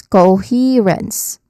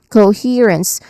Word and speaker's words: coherence: Pronunciation wise you break it down into three distinct sounds. Coherence. Okay. Coherence. um here being the I mean he being the um stressed syllable here. So the middle sound is our stressed syllable for the word. So uh we have we start with the first syllable co. So it sounds like the beginning of go because as you can